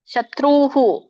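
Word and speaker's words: ಶತ್ರುಃ: ಉಚ್ಚಾರಣೆ ಅಸೌಮಯಹತ ಶತ್ರುಹು ನೋಡಿ ಶತ್ರುಹು ತಕೆ ರ ಬತ್ತು ಮತ್ತೆ ಉ ಸ್ವರ ಕೂಡಿದೆ ಸೋ ಹಾಗಾಗಿ ವಿಸರ್ಗ ಕೂಡ ಉ ಹೇಳಬೇಕು ಶತ್ರುಹು ಹನಿಷೆ ನೋಡಿ ಇಲ್ಲಿ ಶಾಲಗೆ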